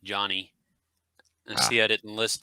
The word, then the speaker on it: Jonnie: She says it's Johnny. Pronounce it Johnny.